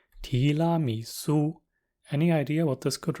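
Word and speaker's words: 提拉米苏: It's pronounced tiramisu.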